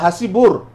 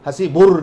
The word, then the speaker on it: হাসিব: হাসিবুল বা হাসিবুর, এই যে হাসিবুর মানে হাসিবুর রহমান যেমন আছে, হাসিবুল ইসলাম বা হাসিব, তো এই যে শেষকালে রটা বলি এটা ভুল, হাসিব বলতে হবে শুধু, হাসিবুর না।